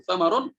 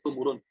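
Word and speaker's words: ثمر: ini wa kana lahu samarun wa kana lahu umurun. Sebagian bacanya seperti itu. Wa kana lahu samarun atau wa kana lahu sumurun. Ya.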